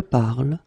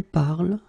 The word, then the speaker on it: parle: will pronounce it je parle, tu parles, il parle, elle parle. So it does mean that even if you write them differently, E, ES, and then ENT, you will pronounce them the same way.